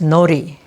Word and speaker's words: nori: do is I have NY here and it's n o r i and it's pronounced NY because the Japanese don't pronounce the RS very well so there's a shiny